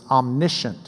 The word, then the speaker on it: omniscient: he's omnipotent he's omniscience Omni all cyant means like science we get from it it's knowing God is all-knowing he's omniscient is the way we pronounce it and wise related words